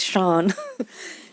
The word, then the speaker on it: Sian: just want to say my name is sean but it's an easy mistake because it's spelt s-i-a-n okay um i want